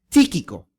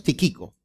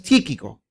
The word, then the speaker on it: Tíquico: un nuestro querido hermano tíquico Esa es la forma de pronunciar no es tiquico sino es tíquico que es un fiel